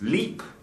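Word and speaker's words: LIEP: English Program or l-i-e-p now you can pronounce this leap or you can pronounce it like it's up to you isn't English a confusing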